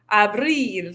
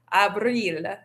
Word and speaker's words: abril: So, notice you want to stretch your mouth out, have that e sound where the i is. Abril. The i in Spanish says e, so make sure you're doing that. Junio, julio.